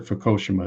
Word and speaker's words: Fukushima: for it over there fukushima or fukoshima as they pronounce it and already there was